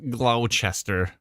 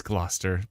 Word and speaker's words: Gloucester: is how it's pronounced it's Gloucester it's not glester it's Gloucester please Adam please people just